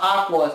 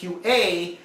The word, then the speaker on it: AQA: Then we had Kimber Lee versus AQA, that apparently is not pronounced Aqua, it's AQA.